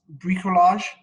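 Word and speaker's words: bricolage: i think i love it's brie collage is that how you say it yes yes very good um how did you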